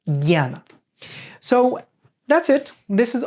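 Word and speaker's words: ज्ञान: Janani Janani Yoga is written junana but is pronounced janna so that's it this is all we need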